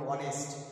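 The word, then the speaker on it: honest: অক্ষর দিয়ে শুরু হলেও সেই কনসোনেন্ট অক্ষরটা সাইলেন্ট থাকবে আর আলটিমেটলি তার প্রারম্ভিক উচ্চারণ ভাওয়াল সাউন্ড দিয়ে শুরু হবে যেমন অনেস্ট হি ইজ অ্যান অনেস্ট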